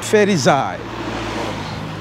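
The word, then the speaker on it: Ferizaj: It's like the J is like Y. Y, everything, okay. Everything J, yeah, is called Y. Y, okay, yeah. Ferezaj. Yosef, not Joseph, it's Yosef. Yosef, okay. Yeah, so it's Ferezaj. Ferezaj. Don't laugh at my pronunciation, my Albanian people. No, sorry, don't laugh at my pronunciation, my Kosovo people. Hey, how are you, my friend? Cool. Ferezaj. Now I got it right.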